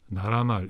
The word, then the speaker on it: 나라말: 이때는 니은 소리가 덧나지 않았고 그냥 나라말 이렇게 부드럽게 발음을 했나 보다.